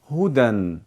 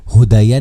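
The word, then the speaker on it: هُدًى: जैसे हुदन इसको हुदयन नहीं पढ़ेंगे क्योंकि यह या भी नहीं पढ़ा जाता।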